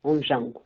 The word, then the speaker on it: Ondjango: Eu vou ter que te perguntar um pouco mais sobre o Onjango, é assim que se pronuncia? Exatamente, Onjango.